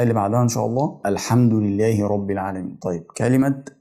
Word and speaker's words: الحمد: أو التشكيلة بتاعة الفتحة، فبنطقها مفتوحة بقول الحمد. الحمد. طيب الميم اللي هي بعد الحاء برضو ساكنة، فبرضو بنطقها زي السين اللي احنا نطقناها في باسم، فبقولها الحمد.